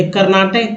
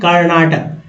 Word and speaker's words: कर्नाटक: को लेकर करते हैं तो कर्नाटक दो तरह से लिखने कर्नाटक कर्नाटक तो दोनों तरफ से इसका उच्चारण होता है पहले लेकिन नाम था